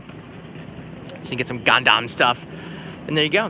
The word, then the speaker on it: Gundam: For those who like Gundam, I say it like that because I've been corrected and corrected again many times on how to pronounce it.